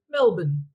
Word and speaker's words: Melbourne: swallowing our vowels so even though it's spelled Melbourne we say Melbourne so we sort of swallow about three three uh letters there um in our lives